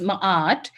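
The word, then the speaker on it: Ma'at: the Hall of ma m m but is pronunciation is ma and this ma is the goddess of Truth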